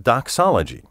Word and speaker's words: doxology: unusual words but you may be familiar with doxology spelled do XO l OG y doxology combines